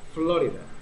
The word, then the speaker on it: Florida: Esta se pronuncia Florida, acento en la O.